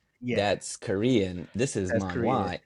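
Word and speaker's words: manhua: This is Manwa. M A N H U A. Man. Okay. Yes. Pronounced the same. Spelled different.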